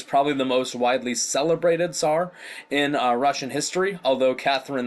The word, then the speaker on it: tsar: Sometimes that's spelled T-S-A-R, Tsar. Sometimes it's C-Z-A-R. I usually pronounce it Tsar.